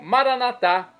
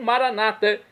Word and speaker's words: Maranatá: E agora eu clamo do aramaico Maranatá, aramaico dialeto de Jesus, ou Maranata, como dizem nossos irmãos separados, os membros das comunidades evangélicas ou protestantes. Não importa a pronúncia, o significado é o mesmo.